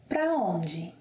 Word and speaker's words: pra onde: It can also be pronounced as pra. Pra onde?